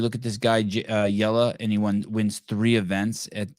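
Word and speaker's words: Jelle: call him jelly but his name is j-e-l-l-e but he's pronounced yellow hosting yeah I don't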